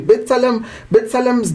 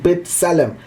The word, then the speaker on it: B'Tselem: We also state that Israel's own B'Tselem, it's spelled with a B. And that copy thing on top there, and then Salem, T Salem, B'Tselem.